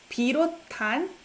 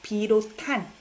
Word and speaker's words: 비롯한: 비롯한. I pronounce this one as T sound. 비롯한. Right? 비롯한. SNH sounds like T.